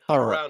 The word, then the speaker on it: Thurrock: Is that how you say it? Thurrock. Thurrock. Right. Thurrock.